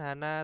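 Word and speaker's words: 한: kalimat gitu ya Nah itu hanya menjadi Han ya Han Se ne ya kalau sama 20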